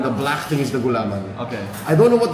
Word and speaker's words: gulaman: going to be black gulaman how do you pronounce that it's s gaman g gulaman yeah that's this is gulaman like I don't